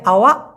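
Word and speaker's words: awak: কন উচ্চারণ হয় না এই কটা ছোট করে উচ্চারণ হবে আওয়া এরকম হবে তো মাহু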